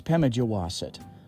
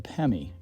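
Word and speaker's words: Pemigewasset: of this River that's not quite right it's pronounced Wingardium Leviosa just kidding it's pemijowasit locally called the pemi it originates at profile Lake and eventually forms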